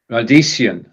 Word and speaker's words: Radieschen: Radieschen. So this is one of those words where, when we're talking about something little, we often add the ending chen. And radies just happens to end with an S, so